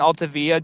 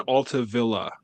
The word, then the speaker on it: Altavilla: He He is not Hispanic. It's not Via. It's Villa.